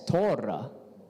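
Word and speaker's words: תּוֹרָה: So the word for teach actually was yara. So you pronounce it as yara, and you pronounce the law as Torah, and you pronounce light as ora.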